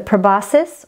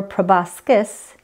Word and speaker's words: proboscis: The proboscis or proboscis, both pronunciations are correct, is used for sucking